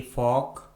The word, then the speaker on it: folk: Rule number 3 में हम सीखेंगे यदि किसी इंग्लिश वर्ड के लास्ट में LK, LM, LD या फिर LF आता है तो उस इंग्लिश वर्ड में L कम्प्लीटली साइलेंट होता है, यानी L का किसी प्रकार से कोई भी उच्चारण नहीं किया जाता है।